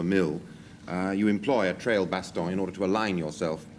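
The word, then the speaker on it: trailbaston: Um, well, a trail baston. You got to pronounce it like that.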